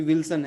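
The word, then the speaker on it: Wilson: और इसका उच्चारण अगर हम पुर्तगाली में करें तो विल्सों, है ना, विल्सों। अभी मैंने पीछे बताया था कि कोई भी एम और एन पे कोई शब्द खत्म हो और उसके पहले अगर एक वॉवेल होता है, स्वर होता है, तो वो नाक में रह जाता है, तो विल्सों, है ना। एम या एन का उच्चारण बाहर नहीं आता, म या न बोलने की जरूरत नहीं है, विल्सों, ठीक है।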